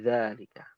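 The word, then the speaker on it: ذلك: Kata dza itu dibacanya panjang ya, Umahad. Sebenarnya dza itu ada alif kecil. Kalau di Al-Qur'an itu ada alif kecil ya. Alif ya. Bukan alif ya. Itu orang Sunda ya bilang alif ya. Namam ya. Ada alif kecil ya. Jadi dibacanya dalika.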